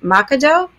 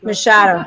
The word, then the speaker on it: Machado: and our guest how do you say your last name makado masado m i really messed up that one M Shadow thank you so we were just